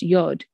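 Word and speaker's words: יוד: the aleph consists of two yuds pronounced yod one yad is situated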